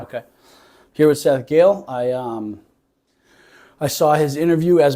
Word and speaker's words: Gehle: How do you pronounce your last name? Gehle? Gehle. Yeah. Like Gail. It's not spelled that way, but that's how you say it? Yeah. Okay. Here with Seth Gehle.